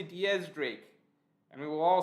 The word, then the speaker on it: X Drake: Epic Mark says, hey Morge, X Drake is actually pronounced Diaz Drake, like the number 10 in Spanish.